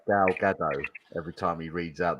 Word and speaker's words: Gal Gadot: Is that how you pronounce it? Gal Gadot.